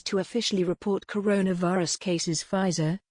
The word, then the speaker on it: Pfizer: the first place to officially report coronavirus cases pfizer phi zur the american pharmaceutical company which announced a successful